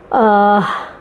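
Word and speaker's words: औज़ार: The other words with Aurat you can write is Auzar. Auzar are tools. There is a dot at the bottom of J to pronounce it as Z.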